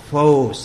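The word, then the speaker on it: φῶς: false false f o c e when you pronounce it it's foes it's long long metaphorically the light of divine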